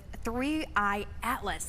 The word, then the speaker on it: 3I/ATLAS: But let's talk about the the new things with three Atlas. That's the correct way to pronounce it, correct? Yes, it is.